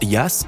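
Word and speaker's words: Jass: la petite ville d'interlaken le jas ce que l'on prononce liasse en suisse est un jeu de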